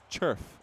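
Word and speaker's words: Červ: It's Lucas Lucas Churf. Uh is spelled in the play.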